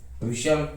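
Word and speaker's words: whistle: फाशन, ग्लिशन, हशल, लिसन, रशल, scratch, सोफेन, watch, विशल और विच।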